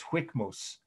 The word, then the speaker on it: Hwikmus: His real name was Hwikmus, just like it sounds, and I spelled it out phonetically in my article, Hwikmus.